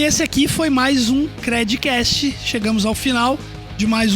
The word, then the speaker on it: Credicast: Até a próxima, e não esquece de compartilhar também o nosso conteúdo aí com a hashtag Credcast, lembrando que o D é mudo.